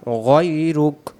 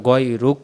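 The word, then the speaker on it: غيرك: ওয়ালা ইলাহা গাইরুক গাইরুক কেউ আমরা পড়ি গাইরুকা কেউ আবার গাইরুক পড়ি এখানে গাইরুক না এখানে হবে গাইরুক দম ছেড়ে দিলে সেখানে কাফের জবরটা বাদ যাবে বাংলাতে হয়তো লেখা আছে গাইরুকা তাহলে আমরা এখানে গয়রুক পড়বো ওয়ালা ইলাহা গয়রুক শুরু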